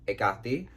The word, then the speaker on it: Hekate: And then there's the Greek pronunciation of her name is Hekate.